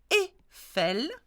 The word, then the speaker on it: Eiffel: Eiffel, EI is a E sound as well.